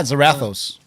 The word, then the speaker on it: Zarathos: Okay, you gotta help me pronounce it. Zarathos? Yeah, Zarathos.